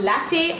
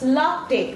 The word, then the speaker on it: latte: Okay, it's not latte or latte, it's latte. Okay, there should be this A should be pronounced in a longer way.